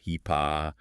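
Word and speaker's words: HIPAA: If your practice deals with regulations like HIPPA, pronounced HEPA or HIAC or state rules, well, the federal slowdown means delays.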